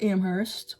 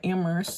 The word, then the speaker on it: Amherst: So I want to go to UMass Amherst or Amherst. Some people say to not pronounce the H. UMass Amherst.